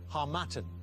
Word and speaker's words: harmattan: believe that it's the harmattan winds blow down off the Sahara so wind okay you seem to know the pronunciation better than me as well the harmattan is it and it's the right